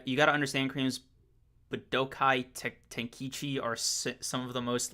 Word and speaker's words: Budokai Tenkaichi: Okay, let me try to run that pronunciation back. Damn. Okay, Budokai Tenkaichi. There we go. Budokai Tenkaichi.